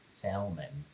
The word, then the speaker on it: salmon: Salmon. Salmon? Salmon? It's salmon, yeah. The L is silent.